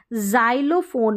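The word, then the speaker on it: xylophone: क और स के रूप में एक्स का उच्चारण जाइलोफोन में ज ज उच्चारण रह रहा है जाइलोफोन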